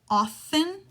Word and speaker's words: often: only one word how often that's a silent T often or how well